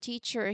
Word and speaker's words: teacher: So take the word teacher here. The first syllable is teach, that is stressed. Teacher. It's loud, long, and clear. Teacher. The second syllable is a schwa sound.